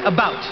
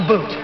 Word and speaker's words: about: speak English and French not American and I pronounce it about not a boot I can proudly sew my country's flag and